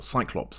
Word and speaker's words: Cyclops: stubborn he's angry about the ccops or Cyclops I should say since well since I did say that I'm using traditional English pronunciations uh he blinded his